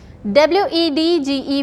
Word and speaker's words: wedge: W-E-D-G-E, wedge. W-E-D-G-E, wedge. Again D is getting silent here.